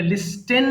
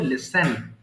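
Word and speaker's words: listen: এরপর লিসেন শোনা এখানে লিস্টেন হবে না এস এর টি এর উচ্চারণ কিন্তু এখানে সাইলেন্ট থাকবে কিন্তু লিখার সময় আমরা লিখবো but time of pronouncing pronounce আমাদের সিম্পলি বলতে হবে লিসেন তাহলে একটু বলেন লিসেন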